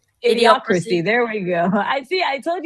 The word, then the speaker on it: Idiocracy: Idiocracy. Idiocracy.